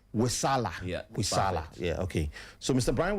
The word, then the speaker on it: Wesaala: Brian, I'm still struggling to pronounce the saying. Wesaala. Yeah. Wesaala.